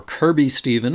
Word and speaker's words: Kirkby Stephen: day seven Orton to Kirkby Stephen or Kirby Stephen as people seem to pronounce it and there was a